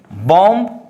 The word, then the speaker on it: bomb: Next, my dear students, silent letter B, you know, here is bomb, in silent, that means B, climb, silent B, comb, silent, you know, B. So don't read like this, bomb, it is incorrect way of pronunciation, that means bomb. Only you have to say, or you have to read out bomb, BOM, bomb, you know, don't read like bomb, you know. So here is bomb pronunciation, okay.